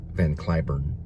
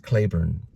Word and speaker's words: Cliburn: oh I just found out his name is pronounced Harvey leavon van curn sorry about that nope it's pronounced Clayburn but when van Clayburn was in Arlington at